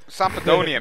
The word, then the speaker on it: Sampdoria: That's how you pronounce them, Dan. Sampdoria, mate. Sampdoria.